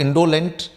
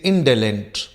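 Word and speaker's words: indolent: यहाँ पर इस ओ का प्रोनाउंसिएशन ओ नहीं है, इट इज नॉट इंडोलेंट, इट इज इंडोलेंट। Means this O is being pronounced as ए।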